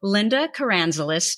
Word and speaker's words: Linda Karanzalis: for you today so today i have invited linda caranzolis to our podcast linda did i pronounce that correctly yes you did linda linda